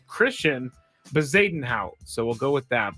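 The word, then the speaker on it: Christiaan Bezuidenhout: I heard them say it on TV, and I looked up the phonetic pronunciation. I think it's Christian Bezuidenhout, so we'll go with that.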